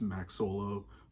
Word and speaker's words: MackSolo: well as you know Max Soul or Max solo um which is really how the name is pronounced it's Max solo but Max soul I